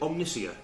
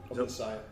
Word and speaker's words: Omnissiah: Is it Omniscia? Omnissiah. Omnissiah. I'll say it right so we get a good roll.